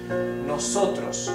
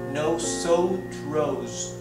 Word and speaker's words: nosotros: Nosotros, not nosotros, no, it's nosotros, as flat as you can pronounce each vowel.